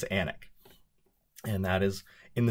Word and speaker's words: Alnwick: a river called the river all which they pronounce the L but their city and the castle they call anak so that's where i'll be and if you read that on the internet don't pronounce it on WIC because people from there and eventually me will